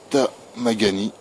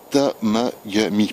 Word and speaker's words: Temagami: reté donc voilà le tamagani tamagami pardon c'est un peu dur à prononcer ça fait plus japonais que norvégien mais bon et pour